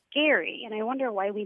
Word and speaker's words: Gerry: I wanted to ask you guys about gerrymandering because I recently learned that the person who it's named after pronounced his name Gary, and I wonder why we never said gerrymandering.